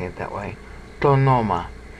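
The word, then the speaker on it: τὸ ὄνομα: Tonoma. Now you have to say tonoma because if I say to-o-noma, that's considered inelegant. Even in the time that John's writing.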